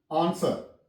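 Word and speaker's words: answer: हो जाता है तो उनमें से ये है आंसर यहां प भी डब्लू साइलेंट है आन आन सर डब् साइलेंट है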